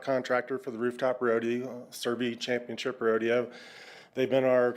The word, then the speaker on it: Cervi: It is Survey. So, you had it right. Sev. Um So, this is for the uh service contract for the uh stock contractor for the rooftop rodeo Survey Championship Rodeo.